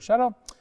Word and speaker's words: shtetl: Itself a play on the Yiddish word shtetl, and it's about a